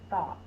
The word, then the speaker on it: thought: next word is thought I was deep in thought a the first sounds my tongue is between